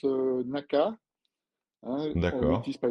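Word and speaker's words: 中: En japonais, ça se prononce naka.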